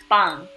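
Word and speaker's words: 빵: As you can see, the English spelling I put right here has a double B, and I did not stutter. It's supposed to be like that. It's supposed to be a B with emphasis. See, I didn't lie. There's two B's right there. These double B right next to each other would make a harder sounding B.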